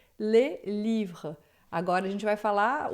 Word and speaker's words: les livres: E isso é muito importante, porque no plural, quando está escrito les livres, a gente não vai pronunciar o S, a gente vai dizer les livres.